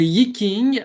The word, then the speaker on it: Yi Jing: Le Yiking, alors, bon, ça s'écrit Y-I-J-I-N-G, mais ça peut, en forme un peu plus simple, être écrit Y-I et K-I-N-G.